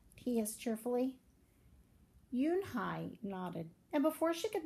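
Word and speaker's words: Unhei: and I corrected it's spelled un hei it's pronounced Eun Hye oh it's you Hey the boy said like you hey what about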